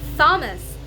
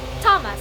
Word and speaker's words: Thomas: so I started saying Thomas and my companion she was she's from California and she told me that sister you don't really pronounce th in names and I'm like okay